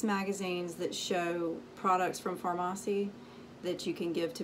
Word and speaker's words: Farmasi: beauty influencer with pharmacy i think i was saying it wrong in the last video but it's pharmacy this is what the